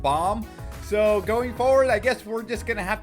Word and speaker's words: Bam: comments section where BAM everyone has been saying BAM when it's really supposed to be pronounced Bom so going forward I